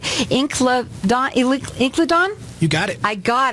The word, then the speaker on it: Incledon: and I hope I say it right, Incledon?